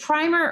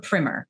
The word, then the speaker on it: primer: Okay, is it primer or primer? This is my big important question to you, because so many people say primer and it makes me crazy because the way it's spelled, I've heard primer so much and it actually makes me angry because the way it's spelled is with one M. So you'd think that I would be long, but actually I find that most people say primer, and there's something about